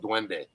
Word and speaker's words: duende: is how it's spelt it sounds like like yellow dwende d-w-e and and d